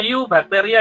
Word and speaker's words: eubacteria: Oke, bacanya eubacteria ya, bukan eu, yaitu bahasa Latin kan eubacteria.